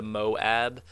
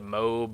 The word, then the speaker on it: MOAB: as people are saying it's pronounced the moab it's gonna be hard for me to remember every time they call it the moab as i've been calling it the mobe or the mother of